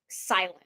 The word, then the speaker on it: SLNT: This is another wearable type company, number 2, Silent. It's spelled SLNT. They're saying silent.